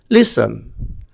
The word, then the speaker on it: listen: তারপর দেখো লিসন, LISTEN, এখানে কিন্তু টির উচ্চারণটি হচ্ছে না।